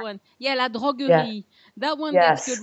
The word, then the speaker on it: La Droguerie: And then we had the creperie place, Le Droguerie. Yes. Am I saying it right? One. Yeah, La Droguerie.